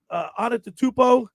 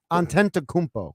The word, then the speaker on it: Antetokounmpo: Antetokounmpo, he's the Milwaukee Bucks are a good. Say good that 3 squad. times. Did I say it right? You said it wrong. Say it, Josh. Antetokounmpo.